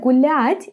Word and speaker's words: гулять: Now, in the word гулять, it's a little bit different because there is no this ya. We just pronounce soft l and then a.